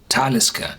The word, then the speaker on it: Talisker: of the distillery is talisker you pronounce this on the first syllable why because it's a